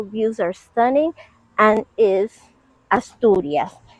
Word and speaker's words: Asturias: The views, the natural views are stunning, and is Asturias. Asturias is surrounded by the Cantabric Sea.